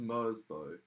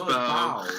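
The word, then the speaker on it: Merzbow: It's like, I think that's just Mersbo. Mersbo sounds like a machine that's dying, but it's not even pronounced it's pronounced Mersbow, isn't it?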